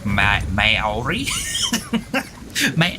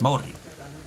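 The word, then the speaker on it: Māori: like Maori words before they would be like mayori Maori Maori or something like that it's no it's Morty because you don't have slightly different though I I don't really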